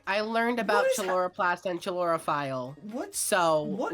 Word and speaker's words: chloroplast: I learned about chloroplast and chlorophyle today. You Books mean are one. chloroplast? Books have. That's how you pronounce it.